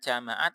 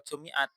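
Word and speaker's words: جمعت: dulu kita masih perdebatkan ini bacanya jamaat atau jumiat. Nah, sekarang mulai kelihatan titik terang, ternyata penulis lebih cenderung pada jamaat. Buktinya apa? Nah, buktinya ya di sini. Hmm, nggak mungkin kalau dibaca jumiat as-su'ada'u.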